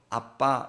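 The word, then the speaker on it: אבא: 아버지를 너무 친밀한 언어로 아빠 이렇게 부르 습니다 그니까 우리는 번역을 그 표기 표기를 아바 이렇게 적어 놨지만 발음은 사실 더 정확하게는 아빠가 더 정확한 겁니다 아빠보다 아빠가 더 가깝습니다 그러니까 인류의 언어가 비슷하죠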